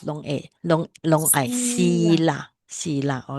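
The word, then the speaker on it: sīla: So virtual morality is you have to pronounce long a long long I sila.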